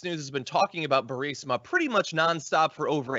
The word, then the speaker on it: Burisma: Here is a video of the president trying to pronounce the word Burisma. 8 months after his alleged meeting with the Burmese executives. So this Burmese, they say, pronounce it Burmese, a real beautiful company.